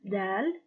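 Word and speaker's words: دال: details as far as the pronunciation of that it is similar to the dead of door it is named dal and with the harikat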